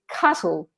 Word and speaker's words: castle: the e so it's castle castle and and the t is silent and then listen listen